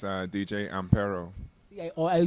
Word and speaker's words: Ampero: How is the right way to pronounce DJ? It's DJ AMPERO.